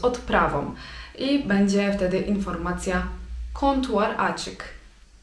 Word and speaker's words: kontuar açık: I będzie wtedy informacja kontuar açık. Kontuar açık.